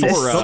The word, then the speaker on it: plethora: It was just the You said emphasis plethora. on the You wrong said, syllable. the Plethora. syllable was incorrect. The emphasis was on the wrong syllable is all.